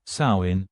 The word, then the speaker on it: Samhain: The modern-day holiday traces its roots to the ancient Celtic festival of Samhain, pronounced Samhain, a harvest festival marking the transition from the warm summer months to the cold, dark winter.